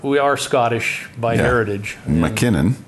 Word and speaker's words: MacKinnon: MacKinnon. MacKinnon, yep. spelt with M-A-C, which is the Scottish derivation.